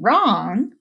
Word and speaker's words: wrong: the silent letter and our last example of a silent letter is W in wrench and rap and wrong they all begin with her but that silent W is there when W and r are together they make the sound these are all examples